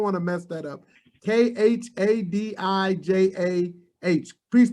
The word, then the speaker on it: Khadijah: name i don't want to mess that up k h a d i j a h please pronounce that for me so i don't mess